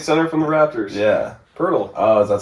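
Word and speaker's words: Poeltl: Pirtle. Oh, is that how you pronounce it?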